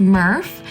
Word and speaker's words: MRF: a materials recycling facility or mrf pronounced Murph where recyclables are brought